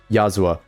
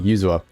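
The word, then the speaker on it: Yuzuha: Sorry, Yazua. You I keep I I said your name wrong. Yuzua. You're not going to run trigger over Yuzua in this team. It's more like a fun option. Also, I know I kept saying her name wrong. That's just that's that's on me. I I keep saying it like an A.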